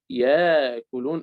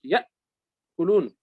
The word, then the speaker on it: يأكلون: كمثل يأكلون مثلا، يعني مثلا يأكلون ياء ثم ألف في الكتابة ألف، لكن أنت لا تنطق ياكلون ألف مد، وإنما تنطق يأكلون، لأن الهمزة وضعت فوق الألف فيتحول في النطق من ألف إلى همزة.